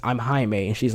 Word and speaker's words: Jaime: would be different because if you see how it's spelled you would naturally think oh it's probably Jaime but it's the fact that that's not what happened he's just he's just saying his name is Jaime and she's going Jamie